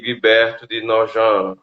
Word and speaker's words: Guibert de Nogent: cristãs na perspectiva de guibert de nogent como ele disse que a pronúncia é francesa né apesar de não ser